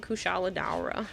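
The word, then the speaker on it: Kushala Daora: team okay got it I'm listening to the way they're pronouncing it they're saying kusala da we should get going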